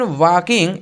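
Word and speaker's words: walking: लीजिए लिखा है व्हेन वकिंग इन द सन देखो भाई इसको वाकिंग पढ़ेंगे एल जो होगा साइलेंट हो जाएगा ओके तो व्हेन वकिंग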